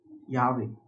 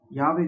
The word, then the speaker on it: Yahweh: word to be and is pronounced similar to I am. So I am has sent you. That is nothing but Yahweh God has sent you.